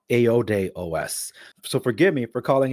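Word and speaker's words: iodéOS: talk about in this video so I've been pronouncing it wrong it's apparently called aod OS so forgive me for calling it iode OS didn't hear about it before now I know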